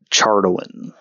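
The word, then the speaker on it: Chardalyn: I would bring up chardling, however that whatever he was saying up to Ursula. Magic awareness? Yes. Is it magic awareness? How it has it in the pronunciation guide. Chardolin.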